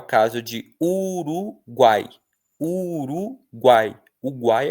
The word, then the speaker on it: Uruguai: É o caso de uruguai. Uruguai. Uruguai é pronunciado tudo junto. Você não fala Uruguai, né, nem uruguai. Você fala Uruguai. Então o guai é tudo junto, é um tritongo.